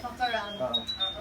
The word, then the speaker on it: Fckroun: Is that how you pronounce it, Fckroun? Okay, Fckroun.